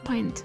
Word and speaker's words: pint: The I in is said like the pronoun I. Paint. Oh, pint.